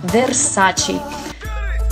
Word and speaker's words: Versace: он нам versace versace посмотрите здесь буква р читается как вы у нас в русскоговорящих потому что итальянцы тоже ее произносят получается versace versace так переходим к пятому